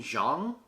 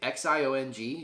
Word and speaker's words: Xiong: Norman Xiong, I believe is how you say it, X I O N G, Xiong, plus 15,000, Scorpio Sun